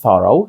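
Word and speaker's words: thorough: о а у through і в слові thorrow що означає ретельний ці чотири літери знову ж таки звучать як O так як було в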